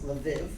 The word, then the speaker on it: Lviv: We left in the middle of May, we spent a week in Lvov, which if you come from Lvov, they pronounce Lviv.